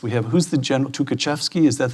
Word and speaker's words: Tukhachevsky: We have, who's the general, Tukhachevsky, is that how it's Yes, pronounced?